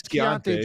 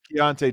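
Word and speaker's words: Keyonte: in Utah actually the guy in Utah is Kante George Keonte George yeah I looked at how Keshan Johnson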